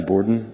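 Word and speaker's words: Bourdon: time to speak tonight my name is borden last name is spelled b-o-u-r-d-o-n and i'm the assistant chief judge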